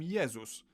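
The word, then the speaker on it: Jezus: is that figure Jesus in Polish we call him yesus but if we were to pronounce his name the English way we'd write it down as Jesus and lastly g g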